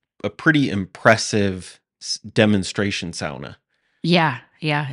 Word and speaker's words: sauna: pretty early they mentioned that the pronunciation is pronounced like Lana oh so sauna you know so that error in pronunciation probably